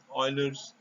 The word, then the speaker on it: Euler: number is provided by euler's representation note that you should pronounce this as euler euler's a famous mathematician this is euler's relationship